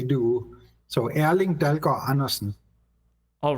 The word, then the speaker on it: Erling Dalgaard Andersen: Yes, so in Danish we would say Erling Dalgaard Andersen. So the D is very soft and the R is also soft, not like they speak in the Netherlands, for instance, where they are sort of saying, I can't even say it like they do.